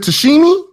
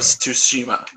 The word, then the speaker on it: Tsushima: Ghost of Tsushima. the TS is like a Z or an SH sound. Yeah. No, it's basically just ignore the T.